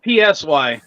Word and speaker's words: Psy: gundam style yeah but he pronounced it psy or he spelled it psy which is fine silent p in it is an s when referencing